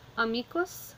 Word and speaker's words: amicus: Three-syllable word, so we're going to start at the end, go back one. Is it long? It is, so the accent goes here. Our emphasis is put on the me, so amicus, amici.